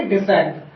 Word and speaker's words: descent: Example DESCENT, ठीक है, इसे हम क्या बोलेंगे, डिसेंट। यहाँ पे जो आपका CA क्या हो जाएगा, साइलेंट।